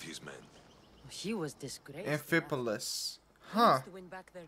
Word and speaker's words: Amphipolis: Amphipolis. Huh. To win back their respect. That's how you pronounce it.